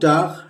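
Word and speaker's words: talk: मिलके अच्छा लगा डोंट टॉक रबिश बकवास मत करो ये ड हो गया और ये आधा डोंट टक तो ये ट ट पे आ का मात्रा र और एल साइलेंट है डोंट टॉक रबिश ये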